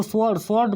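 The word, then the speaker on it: sword: Metal और वो एस वर्ड मतलब होता है तलवार, स्वॉर्ड, इसको स्वॉर्ड पढ़ा जाता है। यहाँ पे आर साइलेंट रहता है।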